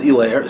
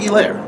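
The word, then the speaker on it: Helaire: name all right if if the h is silent then just say his name right it'll be a douchebag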